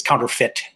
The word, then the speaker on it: counterfeit: In the I don't know if it's pronounced differently in where they speak real English, but in the United States, it's counterfeit. Counterfeit. Yeah. Even though it's spelled feet.